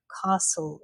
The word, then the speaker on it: castle: And also an S t like castle or whistle.